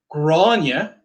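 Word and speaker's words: Gráinne: Grania.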